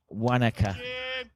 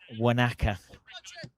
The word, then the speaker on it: Wanaka: Let me just pronounce that correctly. Wanaka. Wanaka.